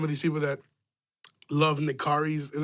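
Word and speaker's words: Nikarry's: these people that love in the car is how you say that restaurant in the car is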